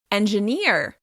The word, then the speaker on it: engineer: In American English, this word will be stressed on the last syllable: engiNEER, engiNEER. As you can hear, the stressed syllable is longer, louder and higher in pitch: engiNEER, engiNEER.